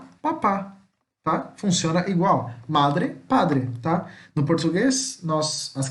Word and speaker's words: madre: Aqui só tem um erro que eu encontrei agora, isso aqui é uma paroxítona, tá? Porque a sílaba mais forte de madre é o ma e não o dre, tá? Aqui embaixo sim, aqui são oxítonas, mamá, papá. Mas aqui é paroxítona, então madre, o ma é mais forte.